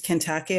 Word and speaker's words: Kentake: Um the correct pronunciation of my name is Kentake although I know it's obviously not your fault, right?